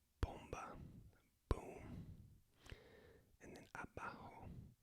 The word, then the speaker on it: abajo: And then abajo, the B is pronounced without quite closing the lips completely, so kind of a softer B, abajo, bomba.